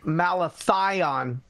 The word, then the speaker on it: malathion: iron so Iron Lion I think it's called malathion not mal so just okay thanks